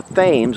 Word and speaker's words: Thames: the mouth of the Thames. We say Thames, not Thames, as the Brits say.